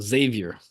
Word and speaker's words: Xavier: I've always said that just with the straight Z sound, Xavier.